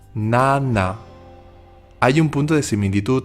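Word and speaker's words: 나: Cuando hacemos la N solemos tocar con la lengua la parte de arriba de la boca, pero en coreano se tocan los dientes. La pronunciación es distinta, pero tampoco se nota mucho. Escuchad bien. La española es na y la coreana na.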